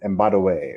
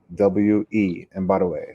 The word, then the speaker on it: Mbadiwe: And then my last name is Mbadiwe, which is spelled M for Mary, B for boy, A for apple, D for David, IWE, Mbadiwe.